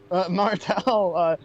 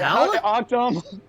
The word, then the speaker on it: Mattel: I It's Martel, who made the Barbie doll, correct? Is it Martel? Martel, yeah. No, Yes. you're pronouncing it incorrectly. It's No, how do you pronounce it? Mattel?